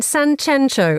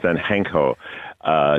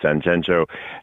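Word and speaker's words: Sanxenxo: You're in a place that's spelt with two X's. Two X's and much controversy, whether it's San Censo or San Henko, depending on who you speak to. Locals will call it San Censo, and the locals say that it's pretentious people from Madrid who pronounce it otherwise.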